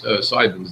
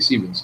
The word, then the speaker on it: Siemens: He pronounces it Simons. It's actually Siemens.